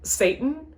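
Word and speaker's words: Seyton: of the characters that their name is s-e-y-t-o-n but it's pronounced satan which is [ __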